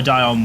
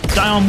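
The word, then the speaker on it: Dionne: I got to say I do much prefer Dion Warwick's version I'm very glad that became the more popular one no offense to the original artist Dion Warwick she's the woman who sings that's what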